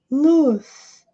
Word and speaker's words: loose: Atenção à pronúncia. Luz. Luz, com som de dois S's.